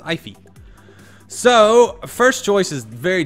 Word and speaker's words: Aoife: I think it's Gaelic or Irish, something like that. It's pronounced Aoife.